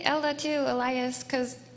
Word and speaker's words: Elajjaz: You say his name right first if he's going to be a Desert Island streamer. No, it's Elajjaz is correct.